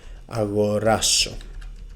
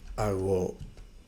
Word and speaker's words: αγοράσω: If we want to use the verb in the future, in the simple future, it will be θα αγοράσω.